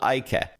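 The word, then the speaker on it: Äike: scooters with a company called Ike. It's spelled A I K E and the Estonian company has two dots over the letter A, which I think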